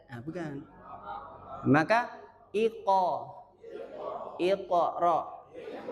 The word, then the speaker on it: Iqra: Iqra. Bukan ikra.